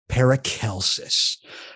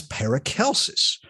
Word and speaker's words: Paracelsus: So for this episode of the Fool's Gallery, within What Magic Is This, we are going to be talking about Paracelsus.